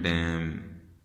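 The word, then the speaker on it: damn: आपने देखना है, नज़र आएगा तो वो N साइलेंट हो जाएगा, जैसा कि होता है कॉलम, जैसा कि होता है डैम, जैसा कि होता है सोलम, SOLEMN, सोलम, ये M सोलम।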